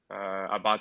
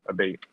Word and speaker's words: Abate: Um, so my last name is Italian. Abate is how you say it, and if you want to say it in English, it's Abate.